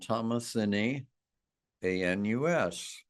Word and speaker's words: thomasinianus: So the name of this group of crocuses is called Thomasini, ANUS, but not pronounced anus.